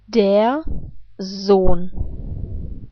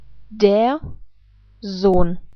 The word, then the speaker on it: Sohn: The rules are that vowels and umlaute are always pronounced in a long way, if they happen before an H and H. And in this case, that is the case. And for this reason, the O is not pronounced like O, but like O. So the rest of the letters, I guess, are pronounced in the same way like in English. So let's put this all together. Der Sohn. I repeat, der Sohn.